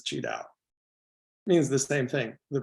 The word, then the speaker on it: Qi Dao: an English-speaking ear so I used the Chinese or Mandarin way of spelling and pronouncing it which is cheow means the same thing